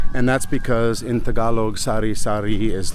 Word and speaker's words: sari-sari: It's spelled s a r i d- s a r i not s o r r y. And that's because in Tagalog sari sari is like a variety of things you can buy.